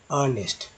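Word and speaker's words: earnest: आप कैसे देखेंगे, ई के तुरंत बाद ई है, ई के तुरंत बाद ए आ गया तो ई जो है साइलेंट हो जाता है और ए से उच्चारण करते हैं, अर्नेस्ट।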